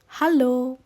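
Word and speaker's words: Hallo: কে জার্মানিতে বলে হ্যালো আপনারা চাইলে বানানটাও নোট করে রাখতে পারেন এটা একটু আলাদা অর্থাৎ উচ্চারণটা হবে হ্যালো এবার আসি দ্বিতীয়টিতে সকাল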